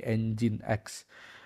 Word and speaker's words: nginx: Bukan Nix ya bacanya, tapi engine X.